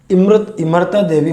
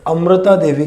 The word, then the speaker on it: इमरता देवी: जो उस गांव की एक महिला जिनको इमरता देवी उनका नाम था, इमरता देवी, जिसे उच्चारण के रूप में आजकल किताबों में अमृता देवी के नाम से पढ़ते हैं, जबकि इमरता देवी